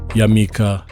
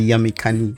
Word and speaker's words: Yamikani: Yamika. Am I saying it right? It's actually Yamikani.